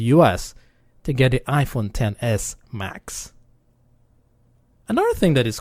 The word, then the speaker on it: X: year for the iPhones 10th anniversary Apple skipped the iPhone 9 and went straight to the iPhone X but of course it's pronounced it the 10 and not X as we know that